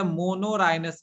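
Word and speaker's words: monorhinous: जो एग्नेथा होते हैं उसे मोनोराइनस कहते हैं, MONORHYNOUS, मोनोराइनस, RHYNOUS। देखिए आप लोग स्पेलिंग मिस्टेक मत कीजिएगा।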